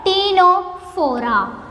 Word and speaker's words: Ctenophora: Similarly, here the first letter is also silent. It is called Ctenophora.